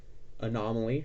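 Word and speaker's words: Anna Molly: popular uh dig and animale which actually is actually pronounced anomaly and so it's a word play of anomaly next up is the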